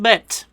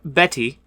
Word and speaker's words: Bette: Cousin Bet or Betty if you mispronounce it.